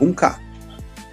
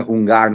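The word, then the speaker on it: Hung Ga: Ele falava Hunka. Né? Hunka, que é a maneira cantonesa de falar, não é Hungar, né?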